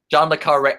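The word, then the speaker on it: John le Carré: See, I try to pronounce myself. Did I say that wrong? What is it? Admittedly, so John le Carre. John le Carre.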